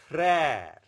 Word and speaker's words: frère: But whenever aksa grave is used on E, it becomes the more flattened pronunciation. Père, mère, frère.